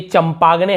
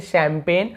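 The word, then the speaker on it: champagne: अब ये चंपागने, हम इसे क्या पढ़ते, चंपागने ऐसे पढ़ते हैं, आपने देखा होगा, लेकिन शैम्पेन पढ़ते हैं, इसका अलग रूल है, लेकिन यहाँ पे हमें जी साइलेंट है, नहीं पढ़ना है।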